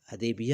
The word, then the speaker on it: حدیبیہ: فاصلے پر واقع ہے۔ اس قریے کو اہلیان حجاز تشدید کے ساتھ حدیبیہ اور اہلیان عراق تشدید کے بغیر تلفظ کرتے ہیں۔ اس قریے کی حدود